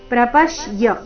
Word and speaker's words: ಪ್ರಪಶ್ಯ: ಪುನಸ್ತ್ವನ್ ತದೇವಮೇ ರೂಪಮಿದಂ ಪ್ರಪಶ್ಯ ಪ್ರಪಶ್ಯ ಪ ಮೇಲೆ ಆಘಾತ ತದೇವಮೇ ರೂಪ ಪ್ರಪಶ್ಯ ನೋಡೋಣ